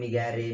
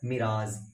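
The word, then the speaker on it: mirage: Okay, बहुत सारे इसको बहुत तरीके से बोलते हैं, मिगैरे मिगैरे ऐसे कुछ करके बोलते रहते हैं, जबकि इसका वर्ड मीनिंग का स्पेशल सॉरी मतलब जो होता है ना ऑथेंटिक प्रोनाउंसिएशन उसका होता है मिराज, MIRAZE, मिराज।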